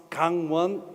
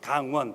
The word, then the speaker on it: Gangwon: of the forest currents Kangwon as penguin so it sounds like the gang defeated the police so not so good the exact pronunciation is hang one please don't forget remember